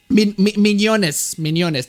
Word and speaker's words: Mignonnes: Mignonnes. That's how you pronounce it.